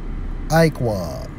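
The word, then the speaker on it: עָקֵב: Let's focus on heel in the Hebrew, Strong's H 6119, pronounced as Iqwah, which means heel, rear, footprint, hinder part, hoof.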